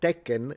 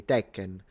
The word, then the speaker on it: Tekken: But the N is not pronounced in Japanese. I mean, it is pronounced in Japanese, but it's nasalized.